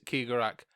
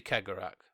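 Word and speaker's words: Cegorach: laughing god who is keegarak i hear you ask who traveller ki garak and i've looked up the pronunciation mm-hmm and it's actually kegerak but i'd i feel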